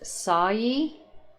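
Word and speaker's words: Sawyee: y e e is that correct is that pronounced sawyi okay and sayi are you male no are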